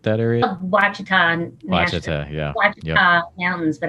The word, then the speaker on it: Ouachita: Ouachita, yeah. Ouachita Mountains, but I call them Ouachitas because that's what the locals call it. Oh, okay. So, that's cool. Yeah, they pronounce the O.